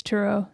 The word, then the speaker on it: Turo: an app called turo is that how you say it yeah I think it's turo yeah turo okay it's